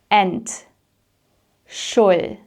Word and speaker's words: Entschuldigung: However, the pronunciation is a little bit tricky, so my tip here is to break it down into syllables and to practice each syllable separately first before putting everything together.